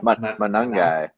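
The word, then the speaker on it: Monangai: Managa? Manungai.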